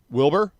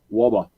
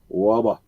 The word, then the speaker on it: Wubba: What should I call you? Just Wubba. Wilbur? Wubba. Wubba? Wubba. All right, Wubba.